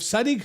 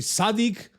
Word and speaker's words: Sadik: And in Sadik's case, it's actually Sadik, not Sadik, and his last name is Hadzovic, not Hadzovic.